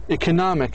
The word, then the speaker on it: economic: the syllable before the ending. فمثلا هذه شن اجت عندنا أو مثلا قبلها الإك. economic هذا المقطع اللي قبليه هو الستريس.